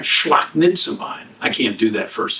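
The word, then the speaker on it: σπλαγχνίζομαι: All right, it's kind of like four syllables. Shlaknitzamai. All right, shlaknitzamai.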